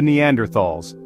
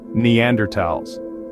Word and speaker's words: Neanderthals: of the homo sapiens story they encountered the Neanderthals these were an older more primitive species of